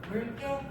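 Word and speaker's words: 묽게: 자, 뒤에 기억이 떨어지게 되면은 물개, 리을, 용언의 어감 받침으로 리을 온 거잖아요. 그쵸? 그 다음에 기억이 만났으니까 발음될 때는 물개 라고 발음할 수가 있는 것이죠.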